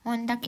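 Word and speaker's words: Montag: Montak. Montak itu Senin, Dins itu Selasa. Mitwo itu Rabu, Dona itu Kamis, Friday itu Jumat, Samstag itu Sabtu, sontak itu Minggu.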